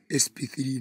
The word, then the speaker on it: sp3: new orbitals are called e SP it is pronounced is sp3 not SP cubic however the theory is Layton using the abacus